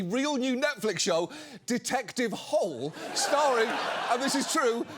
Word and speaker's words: Hole: Apparently, it's based on a Norwegian series of novels, and it's supposed to be pronounced Hoola, but respectfully, no Norway, it's pronounced whole.